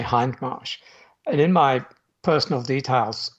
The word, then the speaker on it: Hindmarsh: the whole time i always thought it was in marsh i i was going to correct you at the beginning you know i thought it's funny americans pronounce it hidden marsh now brits and australians automatically say hindmarsh and in my personal details on amazon i